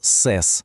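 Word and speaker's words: ces: Ну, а для множини є універсальне слово сес.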